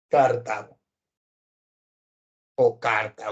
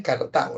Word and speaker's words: Cartago: de admisión de zapatos ahí tienes a carta o carta o le dicen algunos no pero su pronunciación es Cartago no tiene tilde para hacer tres guerras